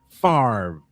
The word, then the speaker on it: Favre: First of all, because of a fellow by the name of Brett Favre. Favre, or Favre, as I incorrectly. I incorrectly pronounced his last name the first time I saw it.